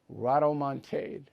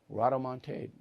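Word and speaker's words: rodomontade: of the day do not be erado Montague Rado Montague huh r-o-t but it's pronounced Rod o-m-o-n-t-a-d-e Rado Montague don't be that back with uh final thought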